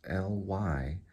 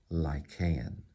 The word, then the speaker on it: Lycaon: So lie, and then K, Lycaon, and it's Lycaon, Lycaon.